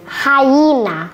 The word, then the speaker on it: hyena: Hyena. Hyena. Once again. Hyena. Hyena. Ouais, c'est comme ha, mais c'est pas terminé, c'est pas hi, c'est hyena. Hyena, ok?